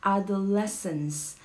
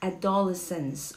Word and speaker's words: adolescence: to the teenagers all right all right it's adolescence adolescence adolescence not adolescence okay hindi pusha adolescence it's adolescence it's the